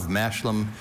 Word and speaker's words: mashlum: In Scotland, farmers planted a mixed crop of mashlum, usually oats with either peas or beans, which served as a nutritional food. Mashlum. Schwa in the second syllable.